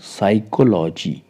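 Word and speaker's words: psychology: वड है साइकोलॉजी साइकोलॉजी देखिए प से स्टार्ट हो रहा है बट पी को हम प्रोनाउंस नहीं करेंगे क्यों नहीं करेंगे क्योंकि एस से पहले पी आया है इसलिए यहां पर पी साइलेंट है और ये वर्ड है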